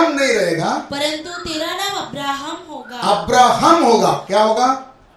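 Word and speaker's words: Abraham: YAHWEH, ये जो दोनों यच है, इसमें से एक ना यच को निकालकर अब्राहम के अंदर डाले। ABRAHM, एक्चुअली इंग्लिश में HAM है, उनका प्रोनाउंसिएशन कैसा है? अब्राहम।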